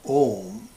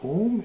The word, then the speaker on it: om: in the pronunciation of om it is not appropriate to pronounce these three segments separately which is done by